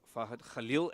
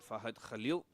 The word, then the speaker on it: Fahad Khalil: Fad Khalil, as we say, that's the the correct pronunciation. Fahad Khalil Khal on strike tossed up.